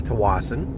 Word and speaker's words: Tsawwassen: we get arrested okay so this is uh to Watson that's how you pronounce it don't be a dick um about